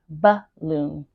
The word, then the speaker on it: balloon: So I want to highlight balloon because balloon has the schwa sound.